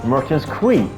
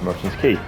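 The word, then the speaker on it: Merchants Quay: was a kid I used to call it Merchant's Queen because that's how I pronounced QA y i didn't pronounce as key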